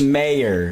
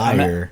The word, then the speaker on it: Mayer: Travis Mayer, not Meyer.